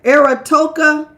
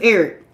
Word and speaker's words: Eric: Ear. Hey, boo. Is that how you say it? No, it's just Eric.